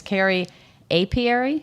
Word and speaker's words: Carey Apiary: It's Carrie Apiary. Yeah. Oh, so it rhymes.